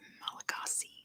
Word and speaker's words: Malagasy: The official language is Malagasy. Good job, Titan. Or, as they would pronounce it, Malagas. Because the SY makes an SH sound in Malagasy, but in English we'd say Malagasy.